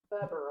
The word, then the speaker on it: Wepper: says by the way wepper is pronounced with the V sound oh verber okay yeah thank you